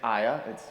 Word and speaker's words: Ia: who's known as Saint Ia, sometimes pronounced Saint Aya.